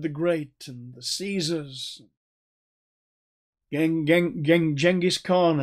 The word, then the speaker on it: Genghis Khan: great and the caesars genghis khan as my mongolian friends say i should pronounce the name um these people wanted